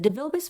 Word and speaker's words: DeVilbiss: They were also quite concerned about the name being pronounced Devilbiss as opposed to DeVilbiss.